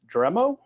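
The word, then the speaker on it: Dremio: Nirmalya has worked for companies like Oracle, Cisco, and startups like MapR, and I believe the pronunciation is Dremo, building and delivering cloud services for customers.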